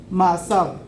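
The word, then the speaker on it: מעשיו: ¿Cómo se escribe, cómo se dice obras en hebreo? Ma'asav.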